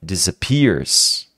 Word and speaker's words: disappears: even our thoughts aqui é um som de s mesmo tá disappears disappears disappears Repete comigo disappears tá Pear tem que puxar o r aí o caipira dentro de você por favor